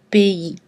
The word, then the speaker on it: pays: Et on prononce EI dans pays et abbaye.